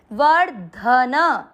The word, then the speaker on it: वर्धनः: वर्ध, वर्ध, वर्ध द नहीं करना है, वर्ध और धन में दोनों में मिक्स करेंगे, वर्धन, न में आ की मात्रा इसलिए विसर्ग को पढ़ेंगे ह, वर्धनः।